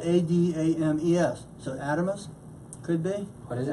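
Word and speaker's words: Adames: And that's spelled A-D-A-M-E-S. So Adamus could be. What is it? A-D-A-M-E-S. Adamus. Adamus.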